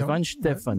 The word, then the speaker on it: Weihenstephan: Alors, la Weihenstephan, prononcée à l'americano. Oui, c'est Weihenstephan.